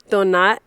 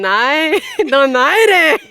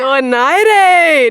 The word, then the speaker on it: Donaire: Wait, actually Donito said your guys' last name is pronounced differently. Can you say it correctly? Is it do Donat? Wait, Don. Donare. There we go. Yeah, you should know how to say it. Yeah. Donare.